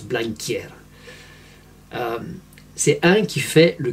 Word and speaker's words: Blanquer: Et clairement, Blanquer, c'est ce mot-là et ça se prononce Blanquier.